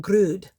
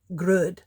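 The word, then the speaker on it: grød: dessert creamy rice pudding called grud it rhymes with good grud gr is good it's covered with whipped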